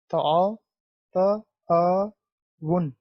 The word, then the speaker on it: تعاون: تعاون۔ تو اعراب کی مدد سے اس کا یہ تلفظ واضح کریں، تعاون۔ یہ دیکھیں، تعاون، واو پیش نون ون، یہ نون کے اوپر کیا ہے؟ جزم ہے، تعاون۔ اب اس کو ہم نے یہ کیا ہوتا ہے؟